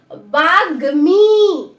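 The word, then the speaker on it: বাগ্মী: তো দেখো বয়াকারে বা গয় ময় দীর্ঘিকারে গি, তাহলে উচ্চারণটা কি হলো বাগ্মি। বাগ্মি, এখানে কিন্তু ম উচ্চারণ হচ্ছে তাই না, দেখো বাগ্মি।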